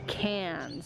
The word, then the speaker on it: Cairns: now we are flying off to Cairns that's how it's pronounced and that's where the